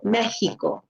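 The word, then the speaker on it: México: But for example, the country of Mexico, we pronounce it Mexico, okay, like with a H sound.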